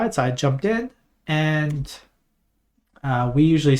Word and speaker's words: へ: the channel KN and okay there's no h and a right when and you might